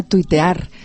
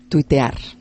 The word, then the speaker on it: tuitear: preguntaba por la palabra tuitear. Le cuento, según la Real Academia, están aceptadas tuitear, tuitero, tuiteo, pero se escriben como suenan, no al estilo inglés, sino tweet, T-U-I-T, así